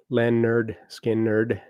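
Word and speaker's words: Lynyrd Skynyrd: Pronounced Len Nerd Skin Nerd.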